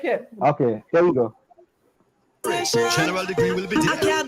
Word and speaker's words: General Degree: Yes, it's General Degree from Jamaica.